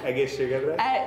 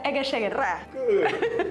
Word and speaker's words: egészségedre: Say, please, say egészségedre. Egészségedre.